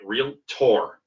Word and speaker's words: realtor: and not be realtor yes by the way it's spelled that way by the way real tour not really inter really tour we adhere to